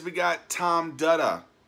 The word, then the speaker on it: Dutta: says we got Tom Dutta said like buttah with the D how did I learn